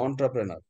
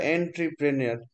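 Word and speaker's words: entrepreneur: এন্টারপ্রেনার, উদ্যোক্তা, উচ্চারণটা হচ্ছে অন্টারপ্রেনার, বানানটা এন্ট্রিপ্রেনিয়র, আক্ষরিক ভাবে উচ্চারণ করলে হয় এন্ট্রিপ্রিনিয়র, NEUR।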